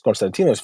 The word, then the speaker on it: Konstantinos: And I said, it's Konstantinos.